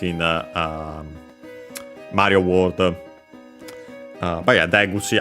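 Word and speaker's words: 出口: But yeah, Deguchi, accent on the first more.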